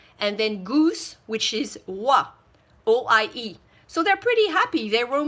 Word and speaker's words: oie: We don't pronounce the D, so it's canard, and then goose, which is oie.